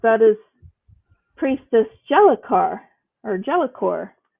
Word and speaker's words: Jellicor: Jellicor. So the E Fix helps has you to been remember how to pronounce it.